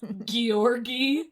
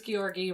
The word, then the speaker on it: Georgy: Is it Grigori? It's not Grigori. Oh, okay. There's no R in the beginning. I actually went to one of those dumb YouTube, like, pronunciation videos, and they said Georgy, but they said it, like, cooler than I'm saying it.